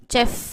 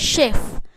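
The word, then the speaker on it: chef: ஸோ இது வந்து நம்ம நிறைய பேர் வந்து சே சவுண்டில் படிப்போம், செஃப் அப்படின்னு சொல்லி படிப்போம். ஸோ இங்கே வந்து இச்சு சவுண்டுன்றதை விட ஷெஃப், ஷெஃப், அந்த இஷ் கரெக்டான உச்சரிப்பு நீங்கள் கூகுளில் போட்டு பார்த்தீங்கனாலும் சரி, இல்லை வந்து அதோட ப்ரொனன்சியேஷன் பார்க்கும்போது ஷெஃப், ஷே இஷ் சவுண்டு தான் வரும்.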